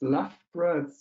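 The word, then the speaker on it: Leicester: now if you're wondering where's left here right in the center of england between less than nottingham and yes it's so many letters and just two syllables left bro okay thank you thank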